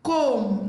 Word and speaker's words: comb: Letter B is silent in the word climb, not climb. Comb, not comb.